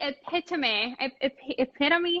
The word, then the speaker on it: epitome: So this is like the epitome, how do you pronounce it in English?